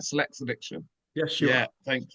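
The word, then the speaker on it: Sillexa Diction: I'm saying it right, Select's Addiction.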